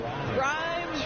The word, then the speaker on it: Grimes: Grimes rhymes with dimes.